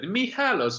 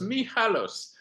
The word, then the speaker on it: Michalos: I asked my Greek friend how to pronounce correctly your surname in Greek, and he said Michalos, Michalos.